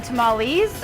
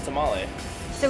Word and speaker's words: tamal: tamal tamal you mean tamales or well the the single pronunciation is tamal but multiple is tamale so we will be making tamales okay so where do